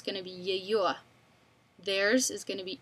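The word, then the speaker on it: её: It's going to be Yeyo.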